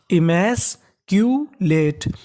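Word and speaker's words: emasculate: पढ़ते हैं क्यू यानी जहां कहीं पर आपको शुरुआत में या बीच में सीयू लिखा मिले तो उसका उच्चारण हमें क्यू करना है क्या करना है क्यू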